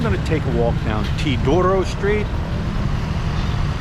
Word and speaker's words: Teodoro: take a walk down tidoro street I asked the kid here truck driver how do you pronounce it and that's what he told me to Doro street it's been a while